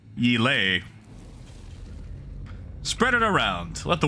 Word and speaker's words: Yela: I hear it's Yele. That's it. That's how you say Yela. It's Yele.